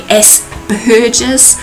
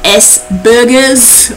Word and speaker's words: Asperger's: It's supposed to be Asperger's, not Asperger's, like burgers on, you're eating burgers, but I have a little giggle now and again, but that's okay.